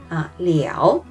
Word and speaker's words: 了: Donc ça se prononce comme le, comme 我吃饭了. J'ai mangé. 我吃饭了. Donc il y a une deuxième prononciation comme 了. Liao, donc comme dans le mot 了解, 了解.